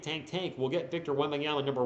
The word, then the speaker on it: Wembanyama: Victor Wanyama. That's right. That's what we call him on this channel. I know it's Victor Wembanyama. I believe that's how you say it.